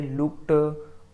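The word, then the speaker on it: looked: इसको जनरली बच्चे क्या पढ़ते हैं? लुक्ड करके, वाच्ड और वाच्ड करके। तो एक्चुअली में इसको ड ना प्रोनाउंस करके ट प्रोनाउंस किया जाता है। इसे लुक्ड, वाच्ड और क्या होता है?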